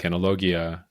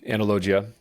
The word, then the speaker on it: Analogia: highly recommend the book analogia um I'll say it like that it technically it should be because there's a i after the G and so that should soften the G so analogia um any anyway you